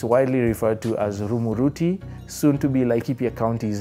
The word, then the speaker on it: Rumuruti: Rumuruti, even on the map today, is spelled R-U-M-U-R-U-T-I, Rumuruti. Sounds like a Kikuyu name, except it's a literal corruption of an English word or English phrase, the remote route.